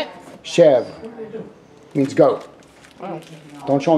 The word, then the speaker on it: chèvre: Chèvre.